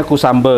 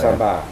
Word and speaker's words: Kusamba: Oh, bacanya Kusambe ya, Pak? Kusamba. Ya. Kusamba.